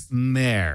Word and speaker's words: Black Mare: Black Mare, like a horse, a female Black horse. Black Mare.